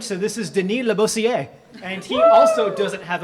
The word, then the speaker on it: Denis Labossiere: I have been told that the pronunciation is very French, so this is Denis Labossiere.